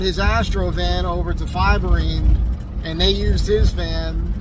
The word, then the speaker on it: Fiberine: And by the way, it is pronounced Fiberine.